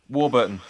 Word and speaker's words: Warburton: Warburton.